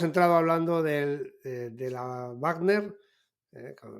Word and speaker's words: Wagner: hablando del de la Wagner eh vamos a pronunciar la la W como si fuera alemana Y tenemos bueno Todos